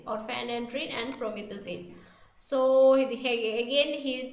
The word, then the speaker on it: promethazine: from methazine prometheus it's the pronunciation is promethazine or phan enduring and promethazine so again he says